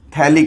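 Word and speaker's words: phthalic: देता हूँ, तो इसका बड़ा फेमस नाम है थैलिक एसिड। P साइलेंट होता है, गैब्रियल थैलेमाइड रिएक्शन आगे आएगी तो इसमें इसका यूज भी आने वाला है।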